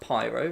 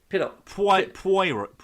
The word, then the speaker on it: Poirot: It's no, it's not Pyro. It's Poirot. I can't pronounce it.